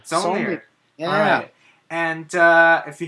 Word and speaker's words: Saulnier: Ooh, I don't know how to pronounce his name. Solomon? Jeremy Saulnier. Saulnier.